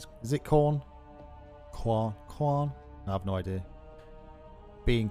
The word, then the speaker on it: Khorne: Pronounced like corn. I assume it was like corn.